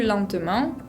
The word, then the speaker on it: lentement: En la palabra lentement, no se pronuncia la T final y tenemos una nasal, la E con N, la combinación.